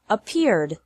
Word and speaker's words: appeared: The past of accept is accepted. Accept has two syllables, and accepted has three syllables.